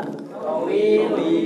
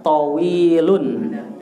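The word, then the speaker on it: طويلٌ: Tawilun. Iya, panjang pendeknya harus pas. Tawilun. Iya, kenapa tanwin? Karena enggak ada alif lam. Kalau enggak ada al, harus tanwin. Tawilu salah.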